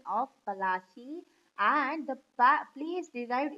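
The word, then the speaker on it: Palashi: Plassey is an anglicized pronunciation of Palachi, and the place derived its name from the palash.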